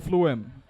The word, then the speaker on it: phloem: Phloem. For you to remember it, pH is pronounced F.